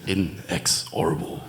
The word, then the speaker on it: inexorable: driveway this time how how's it pronounced INX orable it sounds like in excess a band yeah but it's bit harder so it's in excess with a distortion in excess with Distortion and a bit more rhythmical stuff and good